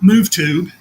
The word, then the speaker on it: MoveTube: MoveTube, like YouTube, but MoveTube. That is correct.